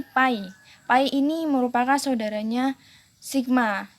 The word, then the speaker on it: pi: Ini dibacanya ini pi.